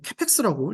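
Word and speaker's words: capex: 네, 이게 이제 캐펙스라고 읽으면 된다고 합니다.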